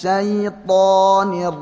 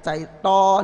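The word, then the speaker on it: الشَّيْطَانِ: A'udzu billahi minasy syaithanir rajim. Jadi to-nya ini saya tekankan ya, to Arab ya, bukan to kita tidak syaiton ini enggak ya, bukan saya, bukan sekedar to aja ya.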